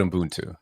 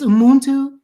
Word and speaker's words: Ubuntu: and you mentioned it here, You talked about Ubuntu.